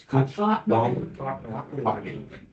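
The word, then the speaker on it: Cochnewagon: Is it Coachnaw? Cottanawagan. I knew I was going to butcher it. Cottanawagan. Cottanawagan. I'm caught in the wagon.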